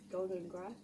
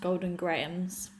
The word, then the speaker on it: Golden Grahams: grahams golden graham grams golden grass golden grounds graham golden graham golden ground and graham that just sounds really weird i have since discovered that it's pronounced golden grahams so these are golden